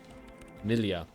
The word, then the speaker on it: milieu: Wait, I actually learned how to say this the other day. Milia, apparently, I think.